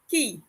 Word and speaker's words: qui: mentioned that on francais the letters q and u when combined they make the sound or similar to the english key so qui would be ki because the letter i